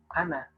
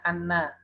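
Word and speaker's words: أنا: Dan hati-hati kita biasakan jangan membaca nunnya dengan syiddah atau dengan tasydid, ya. Jadi terkadang ada yang mengucapkannya anna, itu harus pendek.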